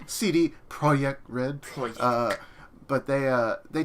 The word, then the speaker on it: CD Projekt Red: cd projekt project red it's pronounced cd projekt red uh but they uh